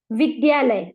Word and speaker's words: विद्यालय: विद्यालय, अगर आप स्पेलिंग लिखेंगे तो VIDYALAY, तो VID, डी के बाद वाई आ जाता है, DA नहीं है, तो विद्यालय, तो अ साउंड नहीं है, विद्यालय।